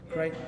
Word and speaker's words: Crichton: Did I pronounce this right? Is that Crichton?